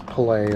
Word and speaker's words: Pelé: Most people say Pele. It's Pelé is how it's pronounced, but yeah, very, very important.